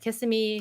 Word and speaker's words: Kissimmee: My uncle like, lives as in far as everything Kissimmee.